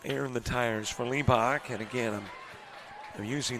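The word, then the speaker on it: Hlebak: Got to put a little air in the tires for Lebach. And again, I'm I'm using the H is silent.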